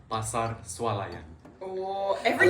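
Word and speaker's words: eau: E-A-U. But we pronounce it oh.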